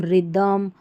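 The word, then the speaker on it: rhythm: जैसे यहाँ देखिए राइम, इसको पढ़ रहे हैं हम रिदम, और ये हमारा है राइनो, और ये हमारी स्पेलिंग है राइनोसर्स, राइनोसर्स।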